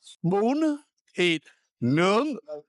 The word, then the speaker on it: bún thịt nướng: think about eating is Bum, tit, and nong. bún thịt nướng. Those aren't even Vietnamese words you just said, man. Phonetically, so you can remember, it's bum, tit, and nung.